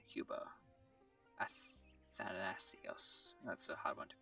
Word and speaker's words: Athanasios: Athanasios. That's a hard one to pronounce.